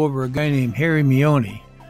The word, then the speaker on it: Maione: a guy named harry miony i may not be pronouncing it right m-a-i-o-n-e it sounds like mayon he was called happy